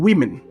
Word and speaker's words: women: Although they write W-O, but you need to pronounce we. Women.